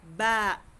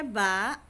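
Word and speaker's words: ب: alif Okay next letter ba ba ang letter ba ang dalawang bibig o dalawang labi nakadikit na close Tap bigin mo yung ba bubuk siya ba next ta ta ang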